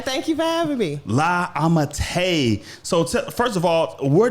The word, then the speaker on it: La Ammitai: I say that right? Yeah, you said it right. Thank you for having me. La Ammitai.